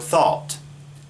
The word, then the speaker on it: thought: a ght even though we may not pronounce the G H in there at all that's just how we